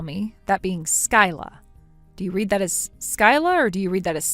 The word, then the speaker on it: Skyla: you read that as Skylar? Huh? You're supposed to read that as Sky. Sky. So your name is Sky, yet you spell it? It's spelled Skyla, but you read it as Sky.